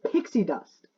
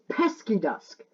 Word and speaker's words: Pesky Dust: I nearly said Pixie Dust. It's Pesky Dusk.